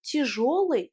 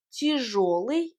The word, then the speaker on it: тяжёлый: La combinaison de lettres G, yo se prononce jo, comme si c'était o.